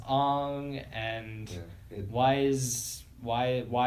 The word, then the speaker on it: Aang: Like why is Aang being pronounced as Ong, and Yeah, why is Why is why why Why is why?